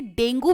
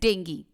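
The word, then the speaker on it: dengue: कई लोग इसे डेंगू भी कहते हैं बट इसका जो करेक्ट प्रोनाउंसिएशन है दैट इज डेंगू।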